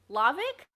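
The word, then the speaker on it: Hlawek: right yes okay uh so i think it's uh lavick wow rachel just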